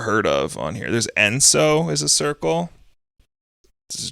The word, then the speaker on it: Enso: There's Enso is a circle.